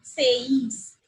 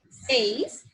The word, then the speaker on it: seis: Okay, because as I told you, E is pronounced as like A and I is pronounced as like E. So the flow is something like, you can see AE. Seis.